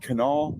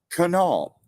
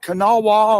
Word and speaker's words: Kanawha: Island AKA Lanes island in the beautiful great Canal River that's Canal not Kanawha or however else you were mispronouncing it it's canal okay all right that's